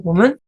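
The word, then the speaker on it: 父: 춘추시대 이전에 기록을 통해서 보면 생부뿐만 아니라 근친의 아저씨들 그니까 삼촌들에게도 미칭으로 그 보 여기서는 보라고 읽습니다.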